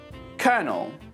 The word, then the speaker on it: colonel: say it after me colonel now it's said like Colonel and spelled like this c o l o n e l colonel let's now look at